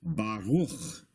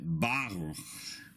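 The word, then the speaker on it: ברוך: The word you're looking at is normally pronounced Baruch, but if you were to see it with this symbol over the letter Bet, you would pronounce it Baruch.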